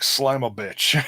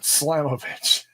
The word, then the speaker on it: Slamovich: And if you say it wrong, it sounds like Slamovich. It's like, but Slamovich.